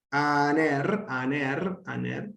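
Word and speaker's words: ἀνήρ: Aner, ¿no? El espíritu es suave, porque la apertura del apóstrofo está hacia la izquierda, o sea, la pancita está hacia la derecha. Se pronuncia aner.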